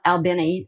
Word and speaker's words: Albany: And what had happened was that they had been in Albany, Georgia, pronounced Albany in the native tongue there.